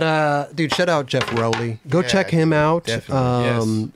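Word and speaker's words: Rowley: It's not Rally. It's Roelly.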